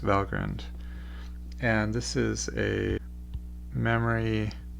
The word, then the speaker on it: Valgrind: it turns out that this is a term from norse mythology and it is indeed pronounced valgrind and this is a